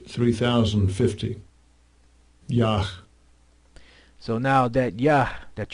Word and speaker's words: Yah: pronounced it with a yeah and you pronounced it correctly yeah why because of the fact that there was no J's in the Hebrew I mean yeah there's